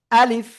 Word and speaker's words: ألف: এটার নাম হলো আলিফ। এটার নাম কি? আলিফ, ঠিক আছে? এবার দেখেন এই যে আলিফ অক্ষর, প্রথমে আ, শেষে আসতেছে লিফ। আলিফ কোনো টেনে পড়া যাবে না, কোনো কি টেনে পড়া যাবে না।